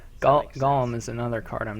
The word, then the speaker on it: Golem: It's not pronounced Gollum. What? How am I? Gollum is a character from Lord of the Rings. Golem. Thank you.